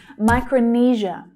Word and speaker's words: Micronesia: Micronesia, Micronesia. Now think back to Indonesia. This is very similar, right? It's the same stress pattern. Zh is the consonant sound there.